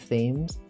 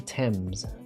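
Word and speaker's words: Thames: You know, this is pronounced instead of themes. You might think it's themes. It's actually temps.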